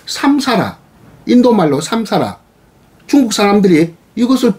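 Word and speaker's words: saṃsāra: 이것이 윤회인데, 이것이 산스크리트어로는 삼사라라고 합니다. 삼사라. 이 삼사라 하는 이 발음을, 소리를 받아들이는 것이 아니라 중국인들은 합력하면서 윤회, 마치 수레바퀴 도는 것처럼 회전한다, 헛돈다, 뱅뱅뱅 된다.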